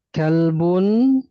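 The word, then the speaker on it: كلب: pakai kaf ya. Kal bun ini artinya anjing ya. Kemudian ada lafaz pakai qop qolbun ya. Walaupun satu ee ee dekat makhrajnya ya. Kalau kaf itu dia pangkal lidah menempel pada langit-langit lunak dan keras. Sedangkan qf itu menempel pada langit-langit lunak saja ya.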